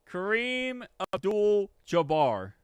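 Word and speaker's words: Kareem Abdul-Jabbar: Kareem Abdul Jabar.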